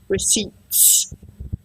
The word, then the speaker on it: receipts: receipts it's a strange it's spelled receipts but we don't pronounce the P receipts okay it's very strange